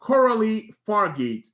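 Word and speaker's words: Coralie Fargeat: So this movie is directed by Coralie Fargeet.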